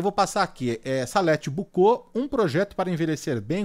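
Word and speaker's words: Boucault: Bucô se escreve B O U C A U L T.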